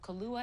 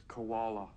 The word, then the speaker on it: koala: offered a cup of Kala and milk you're mispronouncing it it's koala I call it sleepy